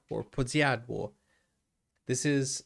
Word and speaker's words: Podsiadło: Podsiadlo or Podsiadło.